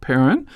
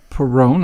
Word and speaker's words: Perron: uh we have a returning guest uh perin who uh is actually pronounced Peron I guess what is it Peron Peron yeah in English I'm I'm like a bad